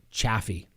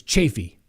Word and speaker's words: Chaffee: moore few case and i've always known it to be pronounced chaffee chaffee county i've even i mean i've been there a long time ago did a case there and then um people like no i live here it's chaffey okay i mean i've